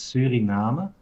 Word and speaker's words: Suriname: dutch actually so the the way to pronounce that is suriname suriname actually would be the same way as we pronounce it in italian so then puerto rico